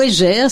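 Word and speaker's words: Egger: par Michel Maxime et guerre ou égère ça s'écrit E2 g e r c'est en fait un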